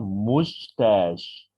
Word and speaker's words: mustache: If you've only got a mustache, see the pronunciation mustache, mustache. Last one sh sound mustache.